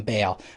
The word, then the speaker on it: Baal: His name was I can never remember how to pronounce it. It's either Baal or Baal. I'm going to call him Baal, but it's B-A-A-L.